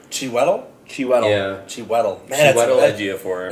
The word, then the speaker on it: Chiwetel Ejiofor: How do you pronounce his name again? Chiwetel Ejiofor. Chiwetel? Yeah. Chiwetel. Man, Chiwetel Ejiofor.